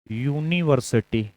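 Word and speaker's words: university: यूनिवर्सिटी। यहां जो उच्चारण वाली ध्वनि है वो व्यंजन है।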